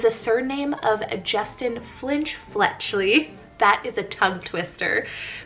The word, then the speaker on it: Fletchley: of fletchley it's spelled f-l-e-t-c-h-l-e-y so this is like fletcher except super cute like it has this sweet soft sounding fletcher fletchley really liking this